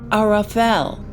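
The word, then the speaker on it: ערפל: And that word in Hebrew is pronounced Arafel, a dense dark cloud, an unknown space that shields Yah's presence.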